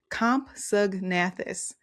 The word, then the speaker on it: Compsognathus: Compsognathus. Compsognathus is the name of this.